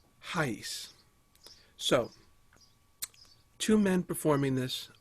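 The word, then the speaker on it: Arrais: pronouncing his name, because if you look at his name, it doesn't sound like that. He's from Brazil, and he has a beautiful accent when he speaks English. I'm sure he speaks many other languages, including Portuguese, which is what they speak in Brazil, and it's pronounced Hayes.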